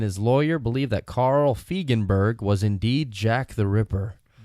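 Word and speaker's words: Feigenbaum: Pronounced Feigenberg. Feigenberg.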